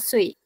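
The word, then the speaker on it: 岁: Nah, kalau misalnya kata sui, itu kan UI ya. Nih, ujungnya kan UI. Dia dibacanya ue. Jadi kayak sui, bukan sui. Kalau misalnya gini, Ibu. Itu aja sih. Ibu. Wo Cinian Arsha Sui. Ya, sui gitu. Kayak ada ue-nya.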